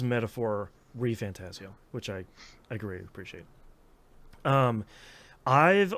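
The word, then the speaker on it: Metaphor: ReFantazio: The game did pronounce its title, so I can say it is Metaphor Fantazio, which I greatly appreciate.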